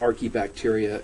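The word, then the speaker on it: archaebacteria: are key bacteria and anytime you see an A and an E together recall that you pronounce e with that so that's why it's our key bacteria and domain are key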